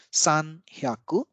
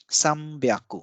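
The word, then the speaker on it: 三百: some byaku so this is an exception in pronunciation so instead of sun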